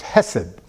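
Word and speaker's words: חֶסֶד: It's pronounced hesed.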